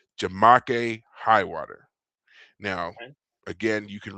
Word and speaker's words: Jamake Highwater: They hired a man named however you want to pronounce this, but I was always told it was Jamake Highwater.